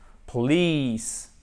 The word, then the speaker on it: police: On l'a sur le LI. Police. Police, qui est un I décontracté, long. Ok? Police. Il faut vraiment le prononcer comme ça. C'est pas police, mais c'est police. Parce que si vous dites police, pour un anglophone, ça ne veut rien dire puisque pour lui, c'est un mot différent.